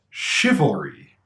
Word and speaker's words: chivalry: spelling and pronunciation however the sounds are sh and CH respectively even though those don't